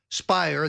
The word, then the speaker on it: Speier: Schiff and congresswoman Jackie Speier spire that Lert that rhymes with liar claimed alternatively that that